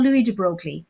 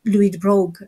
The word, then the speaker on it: de Broglie: to know is called louis de broglie or louis rogue as it's properly pronounced and he said oh